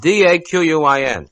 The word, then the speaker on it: Daquin: I don't know how to pronounce it. D-A-Q-U-I-N.